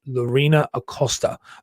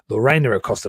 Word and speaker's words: Lorena Acosta: an amazing woman called Lorina aosta Lorena aosta depending on how you want to pronounce it I'm always English and American it's different thing um now she is